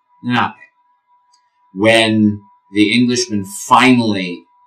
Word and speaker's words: Lenape: Is it spelled with an N, an L, an R? It's a little bit like trying to say all three sounds, to speak all three sounds at the same time. Lenape.